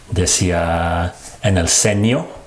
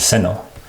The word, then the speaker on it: seno: I also heard earlier, he says "senyo" instead of "seno" that's the live version